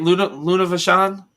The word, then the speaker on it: Luna Vachon: Luna Vachon.